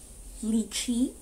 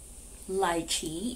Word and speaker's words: lychee: notes are raspberry um lychee or lychee if you use british english um so it's a